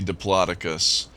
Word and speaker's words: Diplodocus: I've actually looked that up to see what is the correct way to pronounce that dinosaur. There's a new contract, And huh? at least my Google sleuthing uncovered that more people say Diplodocus in professional, um, professional circles. That tends to be the more professional pronunciation, but Diplodocus is actually acceptable.